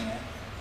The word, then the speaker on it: Heir: John Bromer is in the air. As you probably know, same program, Heir is spelled H-E-I-R, Murders in the Air.